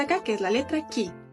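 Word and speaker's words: い: que es la letra i esta letra en esta imagen de fundación Japón se asocia con la i del kikiriki de los gallos aunque los gallos en japonés hacen Coque coco ahora bien importante Ahorita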